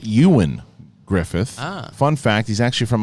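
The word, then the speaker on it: Ioan Gruffudd: Chris Jones to clarify gruff its name is pronounced Ewan Griffith fun fact he's actually from my hometown I've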